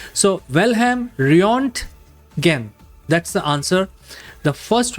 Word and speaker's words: Röntgen: So German physicist Wilhelm Röntgen. That's the real pronunciation of the German name. Whenever there are two dots on the zero, it is a combination of U and O. So Wilhelm Röntgen.